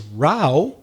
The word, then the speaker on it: row: pronunciation but still the same spelling r o w but now the pronunciation is rao and it's pelearo branca so in fact we're getting three meanings from one word row two of them are pronounced the same remar and fila are ro and one of them rao is pronounced differently that's a good example of